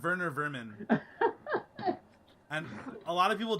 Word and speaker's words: Werner Vermin: But if because he's apparently from like Germany or something, so you pronounce the W with a V, and it's Werner Vermin.